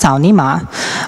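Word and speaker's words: 草泥马: It's pronounced Cao Ni Ma.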